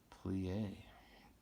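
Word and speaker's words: plié: and I flew yay you say it like this plie we shot a you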